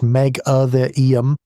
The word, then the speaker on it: Megatherium: Megatherium, pronounced Megatherium, the giant ground sloth, weighed up to 4